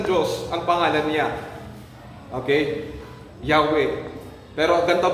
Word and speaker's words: Yahweh: Even your breath, inhale or exhale. Oh. Yahweh.